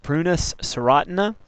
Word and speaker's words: Prunus serotina: black cherry scientific name is pronounced prunus stina it's a member of the rosaer family or